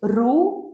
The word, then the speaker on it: Roux: Then next is ROU, which is spelled as ROUX.